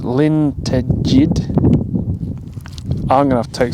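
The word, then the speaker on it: Llyn Tegid: how you pronounce it I think the lake is pronounced Lin Ted I'm gonna have to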